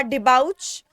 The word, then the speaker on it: debauch: Pronunciation है इस word का डिबाउच, DEBAUCH, डिबाउच.